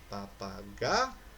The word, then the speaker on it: papagaio: E aí, qual é a sílaba tônica de papagaio? É o G. Papagaio.